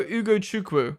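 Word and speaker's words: Ugochukwu: Ugo Ugo Chuku, that's how you pronounce it.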